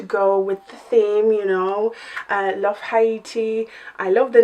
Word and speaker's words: Tahiti: Marie Carnival 3 Love Tahiti palette looks like. Apparently I cannot read. You will notice throughout the video that I mispronounced the name of this palette. It is Love Tahiti, not Haiti.